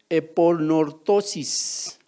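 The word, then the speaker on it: ἐπανόρθωσις: Bueno, en griego se pronuncia eponortosis.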